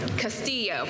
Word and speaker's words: Castillo: Erica Muse and Castillo they are our Custom Interiors coordinators and I'm pretty sure I just mispronounced your last name so you'll have to correct me Castillo okay thank you I